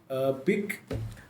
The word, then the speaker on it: PIQ: It is spelled PIQ pick.